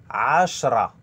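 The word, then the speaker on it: عشرة: Ashra. Ashra. Ashra. Le R roulé comme toujours.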